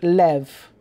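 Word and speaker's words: לב: In the Hebrew, the word for heart is lev, L-E-V, which is spelled Lamed Bet, L-A-M-E-D, Rabbi Abraham Abulafia, in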